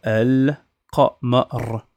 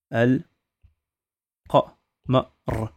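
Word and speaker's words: القمر: D'accord, donc là je vais dire El Qamar. El Qamar. On prononce toutes les lettres.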